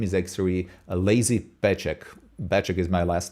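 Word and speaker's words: Peček: Uh Well, the the base of the name is actually a lazy pecheck. Bachek is my last name, creation last name. Well, it's pronounced pecheck, but I write it petech, which would be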